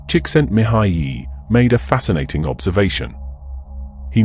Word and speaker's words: Csikszentmihalyi: in the 1970s psychologist ment M pronounced chent miay made a fascinating observation